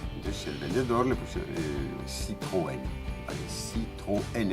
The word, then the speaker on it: Citroën: Entonces el vendedor le puso Citroën, ¿vale? Citroën. Entonces en francés se escribe con una diéresis, porque si no se diría Citroën, Citroën, ¿vale?